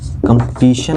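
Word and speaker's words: competition: लेकिन फिर मैं कुछ वर्ड्स लिख रहा हूँ, जैसे मैंने अभी इसको बताया TION का उच्चारण सन से होता है, ताकि जहाँ कहीं भी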